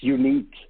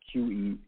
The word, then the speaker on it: Junique: It's Unique. It's Junique. I see, Junique.